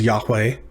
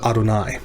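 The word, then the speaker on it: אֲדֹנָי: some translations say jehovah you'll often hear it referred to as yahweh but don't read it that way especially if you're in the company of jewish people you'll want to speak it as adonai which means lord next up yom yom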